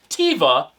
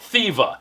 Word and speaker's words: Theva: ones and yes even though it's th it's pronounced Teva not thiva at least that's what the guy said focal